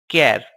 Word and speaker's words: char: h a r and pronounced as care it is a fixed